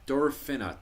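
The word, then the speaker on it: derbfhine: Um tell me what were the derfin is it pronounced derin or dorin derafina. Durina durina. So for the dera derina and what that means is the true kin.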